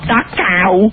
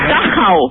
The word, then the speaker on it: Dachau: It's not Dachau. It's Dachau.